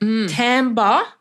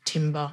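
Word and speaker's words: timbre: word in that episode Tamba referring to the tone or quality of an instrument or voice not Timber as it's written the music the hardcore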